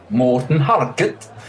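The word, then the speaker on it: Morten Harket: if if if you if you want to pronounce it the real Norwegian way you just you should sound like this Morton haret you it's more even more like the the Swedish Chef it's more you know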